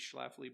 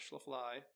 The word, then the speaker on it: Schlafly: can get all of these great beers these Schlafly beer not shallow fly I mean I do and I do have